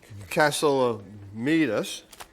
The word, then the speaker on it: Katsilometes: Called a Cats, with this handsome devil, John Katsilometes.